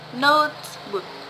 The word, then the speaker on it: notebook: In this session, or in these rules, most compound nouns have the word stress on the first word. For example, notebook. There are two nouns, note, and book. So the stress on the first word, notebook, notebook.